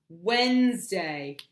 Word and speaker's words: Wednesday: in the whole set Wednesday because it's wet Ness day and we don't say when this day okay it's Wednesday so